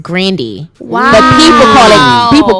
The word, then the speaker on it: Grande: why are you saying grande like no she wouldn't want to interview and like pronounce her name correctly she said that her name is pronounced grandi wow but people call